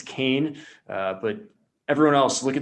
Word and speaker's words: Keane: It's not Keane, it's Kane.